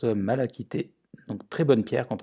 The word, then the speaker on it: malachite: la pierre numéro 2 c'est la malachite quand on découpe son nom qui se prononce mal acquitté donc très bonne pierre